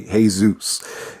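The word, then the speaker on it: Jesús: So this is actually, hey, Zeus. You actually spell it like Jesus, except the U actually has an accent.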